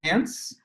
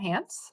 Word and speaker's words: Hance: It's Hance from Herzog Law Firm. Yeah, Yeah. I got it right. I always say it's like chance without the C on front. So Okay, it's just perfect. Hance.